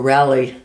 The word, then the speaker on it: Raleigh: a British nonprofit called Raleigh. Okay. Or Rally, as they pronounce it.